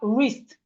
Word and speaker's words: wrist: We have wrist. The w in wrist is silent.